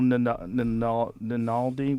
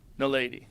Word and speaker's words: naledi: It was Homo ninaldi. What was it? You remember that? I can't remember how to say it, but... Naledi, yeah.